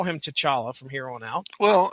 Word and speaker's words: T'Challa: with two chawla mark says Comic Vine says to chala I'm not gonna argue that T'Challa it is Ronnie Adams there's your the first